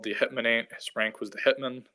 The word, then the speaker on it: Hetman: that's their term um hitman and uh or getman depending on you know how you want to pronounce it but i pronounce it hitman um so he goes